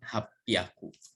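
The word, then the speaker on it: 八百: Kalau ya-nya dihilangkan, 2 huruf yang pertama ini hachi, yang ini hyaku. Jadi dibacanya nanti menjadi hapyaku. Kan begini.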